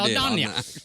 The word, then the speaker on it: Saldaña: After nailing it, almost butchered Saldaña.